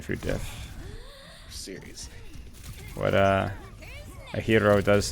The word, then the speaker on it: gyro: What a hero does. It's a hero, right? Is what they call it. Like the gyro, you know what I'm saying? The GY. That's how you pronounce it, right?